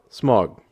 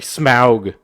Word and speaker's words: Smaug: the rings sauron hobbit smog i'm sorry smaug i don't like that pronunciation so i'm gonna call it smug star wars darth vader